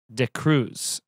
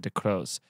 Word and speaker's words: de Cruz: my last name but it's de cruz uh i said de crows to cruise how many times have